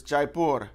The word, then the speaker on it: Jaipur: I'm like no it's not that you say Jai purr it kind of sounds like diaper so I looked it up the official pronunciation is Jaipur Jaipur is a city in